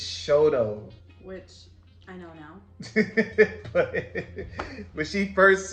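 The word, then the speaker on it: Chouteau: trying to pronounce it and why did you pronounce this street that to me when I first moved here was Chateau oh which Hotel I mean she'll tell it's Shoto what she first said it I was just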